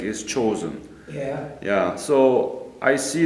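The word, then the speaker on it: Chosin: That's the Japanese pronunciation of Jangjin Lake is chosen.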